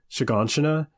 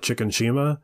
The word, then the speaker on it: Shiganshina: said Eren twice, Armin are from is called Shiganshina. And for the longest time, me and Bill didn't know how to pronounce it, and he would call it Chicken Shima, which is very close to that guy's name.